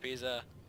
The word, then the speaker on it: Pisa: Leaning Tower of Pisa. Who doesn't know that? Because it rhymes with pizza.